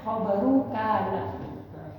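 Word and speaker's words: خبر كان: Khabar kana atau khabaru kana, khabari kana, khabaru kana, bacaannya khabaru kana.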